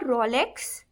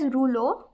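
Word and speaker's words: rouleaux: It is not Rolex. You pronounce it as ruo.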